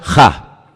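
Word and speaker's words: הַ: Se pronuncia ja.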